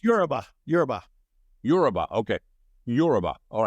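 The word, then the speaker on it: Yoruba: a little bit about Yuba the am I pronouncing that correctly Yuba it's Ura yurba Ura okay Ura all right now this is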